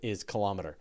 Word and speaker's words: kilometer: But the one that I will admit that we say it wrong is kilometer. That we should say kilometer. It's kilogram, kiloliter. Exactly. It should be kilometer, and yet we say kilometer.